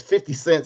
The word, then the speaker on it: 50 Cent: 50 cent said and notice you don't his name is not pronounced 50 cents his name is 50 cent so he says said